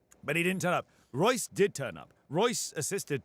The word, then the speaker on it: Reus: R-E-U-S does not look like it should be pronounced Royce, but there we go.